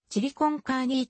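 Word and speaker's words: chili con carne: つでもある米国ではチリコンカーにを英語風にシリコンカーリーと発音するが実際は単に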